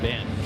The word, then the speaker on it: Benge: So this match up it's the hard G in Lang against the soft G in Benge very good here head of the class why English is the strangest language.